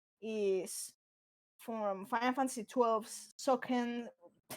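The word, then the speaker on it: Sochen: from Final Fantasy XII's Soken. It's actually named like that. It's CH, but you pronounce the CH like K.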